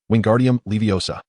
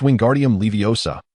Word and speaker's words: Wingardium Leviosa: Ron watched enviously as Ona ended the spell, prompting him to shout, "Wingardium Leviosa while flailing his arms like a windmill."